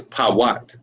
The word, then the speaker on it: Put: But it is Pawat. Pawat. That's exactly how you pronounce that.